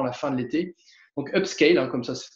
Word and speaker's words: upscale: Donc, upscale, hein, comme ça se prononce, UPSCALE.